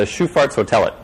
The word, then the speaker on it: Sjöfartshotellet: And it turns out it's the sound, the sh sound. That's not quite it. That's my best Swedish pronunciation. Apparently I was going to the Sjöfartshotellet.